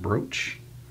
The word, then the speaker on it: brooch: look at the infamous brooch actually uh Ethel's brooch Broc H is how it's spelled but Kate said is pronounced brooch and she's smarter than me about that stuff